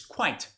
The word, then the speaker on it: quite: But quite, listen to the pronunciation. It's not quiet. It's quite.